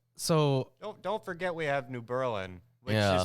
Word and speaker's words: New Berlin: yeah and they literally have Germantown because I mean so don't forget we have New Berlin yeah pronounced New Berlin I changed the way people said it after